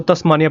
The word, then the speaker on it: तस्मानिया: है, इसको कहते हैं तस्मेनिया। ठीक है, तस, एक मिनट, या तस्मानिया पढ़ा जाता है इसको, तस्मानिया। कई अलग अलग तरीके से इसके प्रोनाउंसिएशन है, आप थोड़ा सा देख लीजिएगा।